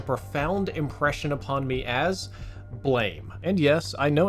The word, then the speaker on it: BLAME!: impression upon me as blame and yes I know it's supposed to be pronounced Blom like the sound effect of a gunshot but we didn't have